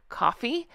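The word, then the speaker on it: Ko-fi: backslash Real Housewives Recaps I've been told it's pronounced coffee but it's not spelled like that that's why I spell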